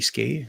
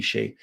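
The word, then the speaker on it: Skjei: Is it pronounced Shea? I think it's Shea, right? Or Brady Skay, but I think it's got a K in there, but it's Brady Shea.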